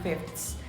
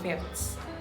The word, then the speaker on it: fifths: If we pronounce it perfectly, it should be fifths, but that's kind of hard to say. It feels like awkward, so many people just say fifths. Here, the sound changes to T to make the word easier to pronounce.